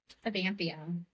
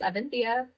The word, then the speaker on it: Evanthea: Aanthia. Aanthia is what a lot of people say. Yeah, a lot of people do. But it's Athia.